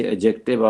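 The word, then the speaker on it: adjective: डी आती है ना, ए और जे के बीच में जब डी आ जाए तो वो डी प्रोनाउंस नहीं होता, इसे एडजेक्टिव आप कहेंगे। क्या कहेंगे?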